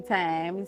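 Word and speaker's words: thyme: seen the little Tummy Time spell t-h-y-m-e but pronounce time yes that one okay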